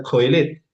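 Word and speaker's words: קהלת: Por ejemplo, en hebreo no no se pronunciaba el clciastés, se pronunciaba coelet, ¿cierto?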